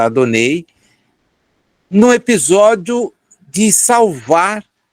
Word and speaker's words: Adonai: que Celebra yahvé a Adonai ou adonei como é a pronúncia correta adonei no episódio de salvar